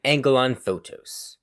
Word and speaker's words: Angelon Photos: Today I am Angelon Photos. Angelon pronounces the S like the one in fructose, while Yusufa uses a Z sound as in the plural of photo.